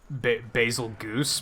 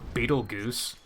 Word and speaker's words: Betelgeuse: spelled the same way I think some people call it big basil Goose but it's not Beetle Goose like hello that's not right at all unless it is and